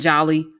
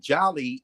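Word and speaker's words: jali: is either j-a-l-i or you see the d which is silent d j a l i if you go back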